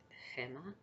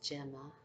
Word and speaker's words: Gemma: Uh, my name is, if you want to pronounce it the Spanish way, is Gemma, or if you want to say it the English way, is Gemma, or.